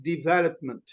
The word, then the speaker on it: development: development now this is development development we stress the second one development yeah repeat after